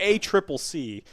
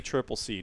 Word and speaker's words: ACCC: In Australia, so the ACCC, we were saying it wrong. It's not the ACC. It's the ACCC.